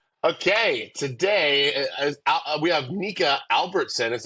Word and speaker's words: Nika Albertson: a vocal warmup okay today we have NAC Albertson is how you pronounce it yeah correct I just saw that